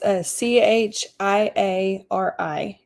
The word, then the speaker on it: Chiari: Okay, it's c h i a r i is Chiari. Um it's actually called Arnold Chiari. Arnold spelled like the name Arnold.